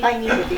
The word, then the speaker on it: Heine Withee: Heine, and I will say Heine Withee, but that's not the way you pronounce it, is Yes, it? it is. Yeah, Heine Withee? Heine Withee.